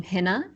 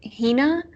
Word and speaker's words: Hina: it differently so my i pronounce my name henna with a short eye i believe she pronounces it hina but it's spelled exactly the same so if you google